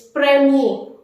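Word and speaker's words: première: is uh the how to say first it's premiere it's premiere so all the ordinal numbers first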